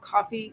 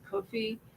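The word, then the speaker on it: Ko-fi: It's called Coffee. Sometimes people pronounce it Kofi, and that's for donations, basically.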